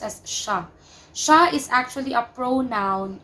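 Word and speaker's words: siya: note of the word Shah here it's it's pronounced as Shah Shah is actually a pronoun used for our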